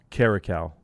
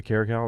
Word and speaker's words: caracal: Eastern Cape is the Caracal, which is like Caracal. Caracal. It's a lynx species. So it's like our bobcat or our spell it.